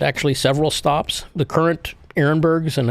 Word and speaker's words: Arenberg: Arenberg. Well, you see ARE and people think R. It's Arenberg. That's how we pronounce it.